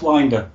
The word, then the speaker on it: Winder: My surname's pronounced Winder, but I'll let you off.